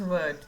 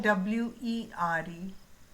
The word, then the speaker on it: were: अच्छा, अब एक की स्पेलिंग है WERE और दूसरे की है WHERE. दोनों की प्रोनाउंसिएशन तो सेम नहीं है. This is वर and this is वेयर.